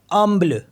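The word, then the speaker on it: humble: बी एल ई तो एच तो आपको पता है साइलेंट होता ही हमेशा तो बचाए यू एम बी एल ई तो इसको पढ़ेंगे हम अमल अमल मीस होता है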